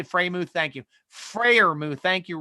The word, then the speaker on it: Freiermuth: But Tomlin likes to say he loves seeing that type of Freiermuth. Thank you. I say Freiermuth.